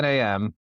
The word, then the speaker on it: NAM: Is it the N or NAM? I'll say it right. So I say NAM n within the NAM.